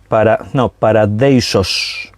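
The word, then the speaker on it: παράδεισος: palabra paraíso, literalmente, es una palabra griega que se escribe casi igual. La palabra es paradeisos.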